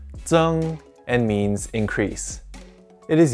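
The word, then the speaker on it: 增: This character is pronounced zeng and means increase.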